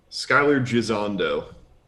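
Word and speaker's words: Skyler Gisondo: Skylar Gisondo.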